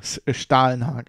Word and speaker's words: Stålenhag: or just Google Simon Stålenhag. I said you would, you know, if you pronounce it English or German. It's like an A with a, this is like a Stargate A.